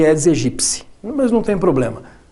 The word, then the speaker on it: Aedes aegypti: ao mosquito da dengue o mosquito é aedes aegypti que a pronúncia certa Aliás ele é dos egípcia Mas não tem problema